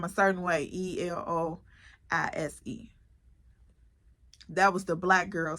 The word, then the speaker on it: Eloise: that everybody could pronounce E everybody could pronounce that that was simple easy but then again I always came across people who pronounced the Eloise and Eloise was on my